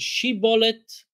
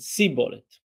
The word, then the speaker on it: shibboleth: One of them said shibboleth, and one of them said sibboleth.